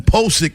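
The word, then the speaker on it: Pocic: Now, Ethan Pickik is available right now for the Baltimore Ravens. That is how you pronounce his name.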